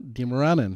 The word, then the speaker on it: Dimaranan: Here with my beautiful co-worker, the one and only Katrina Dimaranan.